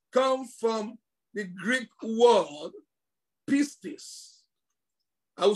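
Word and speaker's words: πίστις: The word faith comes from the Greek word pistis. I will spell that for you.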